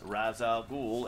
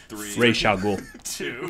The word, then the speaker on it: Ra's al Ghul: Cheeseburgers at 4 Yeah, Ra's al Ghul. If you grew up on the cartoon, it's Ra's al Ghul. They mispronounced it.